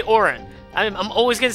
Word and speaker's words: Auron: Oh, it's pronounced Orin. I always thought it was Oron.